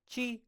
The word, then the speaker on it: 七: 七 Chi, chi. I think of cheese.